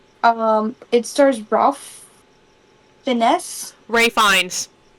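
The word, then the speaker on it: Ralph Fiennes: Ray Fines. That's how you say his name.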